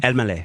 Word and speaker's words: Elmaleh: Elman? Elmaleh.